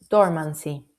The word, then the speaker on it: dormancy: One dormancy con el acento en la O.